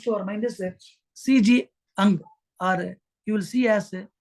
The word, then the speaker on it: Jung: Ang, or you will see as some people call him as Jung, C.G. Jung, but his name is Ang, because J is silent in that.